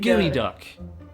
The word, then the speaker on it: geoduck: yeah oh no no it's called gooey duck gooey duck that doesn't sound appetizers